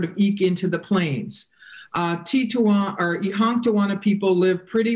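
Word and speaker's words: Titonwan: And then the last one is the Tituan, the dwellers in the prairie or dwellers in the lodges, sometimes mispronounced as Teton.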